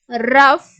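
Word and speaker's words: rough: வந்து ஜியும் ஹச் யும் சோ ஜிய யும் ஹச் ம் வந்து சேர்ந்து வர்ற இடங்கள்ல fோட சவுண்டு இஃப்ன்ற சவுண்ட் தான் நம்ம வந்து கொடுக்கணும் அப்படின்ற மாதிரி சொல்லி இருக்காங்க ப்ரொனௌன்ஸ் லைக் எப் எஃப்ோட சவுண்ட் மாதிரி நம்ம ப்ரொனௌன்ஸ் பண்றோம் எக்ஸாம்பிள் டஃப் லாப் ரஃப் டிராஃப்ட் சோ இங்க எல்லாமே இந்த ஜியும் ஹெச் சேர்ந்து வருது பார்த்தீங்களா ஜி கூட ஹச் வந்துச்ச இடங்கள்ல எஃப்ோட இஃப்ன்ற சவுண்டுதான் நம்ம வந்து கொடுக்கிறோம் சோ இது அடுத்து இருக்கக்கூடிய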